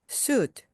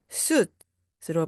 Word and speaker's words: suit: 정장은 suit, suit, 수트 하지 마시고요. 받침으로 가듯이 suit, suit으로 발음해 주시기 바랍니다.